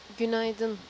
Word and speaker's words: Günaydın: Günaydın.